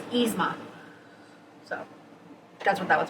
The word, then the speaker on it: Yzma: as a y so I try to pronounce it as yizma even though I know it's yzma so that's what that